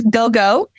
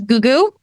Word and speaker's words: Gou Gou: Um it is go- go even though a lot of people do pronounce it as goooo.